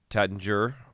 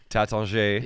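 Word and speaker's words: Taittinger: it's just not cheap yeah um it's from Tater as we call it in the States but they're I like taton is how they pronounce it like you know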